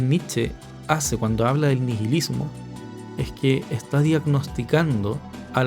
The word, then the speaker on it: nihilismo: asociarlo con el nihilismo escribe ni h y nihilismo pero se pronuncia nihilismo mucha gente asocia nietzsche